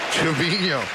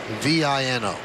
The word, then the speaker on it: Trevino: And everybody has been calling him Trevino because it does not have the tilde over the end.